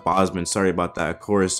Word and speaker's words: Bozeman: I believe it's actually pronounced Bozeman.